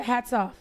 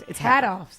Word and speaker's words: Hadoffs: Are they hats off? Yeah, everybody says hats off. Oh, but it's Hadoffs. Yeah, Hadoffs.